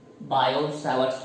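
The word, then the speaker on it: Biot–Savart: μ0/4π I dl bar cross r bar upon r cube, ये है आपका बायो सावर्ट्स लॉ, ठीक है। टी साइलेंट होता है उसमें।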